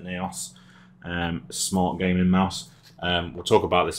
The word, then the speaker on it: Naos: is the my onyx naos qc i think as they pronounce it neos um smart gaming mouse